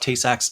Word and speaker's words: Tay-Sachs: is to have I don't know, like a Tay Sachs, like I'm going to pronounce this wrong, Tay Sachs disease.